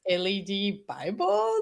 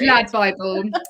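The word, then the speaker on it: LADbible: I was like, is it LED Bible or is it Lad Bible? Yeah, no, it's Lad Bible.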